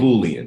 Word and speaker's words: boolean: I've had people call it a it's called boolean or a pool just say like AB or B ool all right even mispronounce on tablets a bullet there's gonna give